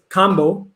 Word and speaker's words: kambo: Well, let's get off into, is it Cambo or combo? How do you All say right. it? So I would say it's combo because Combo. other countries, they don't really pronounce A's with the long A.